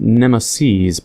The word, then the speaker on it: NEMESES: Pronounced NEMESES, plural of nemesis.